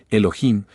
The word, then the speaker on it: Elohim: dioses Eso significa Elohim o mejor dijéramos Elohim porque la H se pronuncia como J estos Elohim como quiera